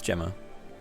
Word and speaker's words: Gemma: his name is Gemma it's not Gemma it's Gemma it's a soft G not a hard G he said so himself